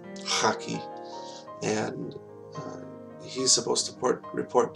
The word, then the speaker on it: Khaki: Please remember Brother Amin Haki, that's K-H-A-K-I. We would pronounce it Khaki, but in Farsi it's Haki.